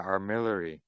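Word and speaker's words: armillary: Armillery. That's what it is. Armillery. Thank you. Yeah. How do you spell that?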